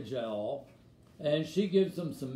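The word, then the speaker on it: Jael: woman named jahal we i always pronounce it jail j-a-e-l jail as a child but it's really jowl and she gives him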